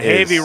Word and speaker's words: Havey: And Havey rhymes with Mavey, who is Mavey.